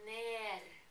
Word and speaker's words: ner: And they say in this song, for down, I would say ned, and they would say ner, because they don't pronounce the r's the way the East Norway do with the r. They pronounce it with the kh.